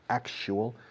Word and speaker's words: actual: Actual and actually. Remember the pronunciation. Ac, y luego zapato. Actu. Actu.